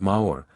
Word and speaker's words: maor: very few know that maor pronounced nearly like the French word is still the Highland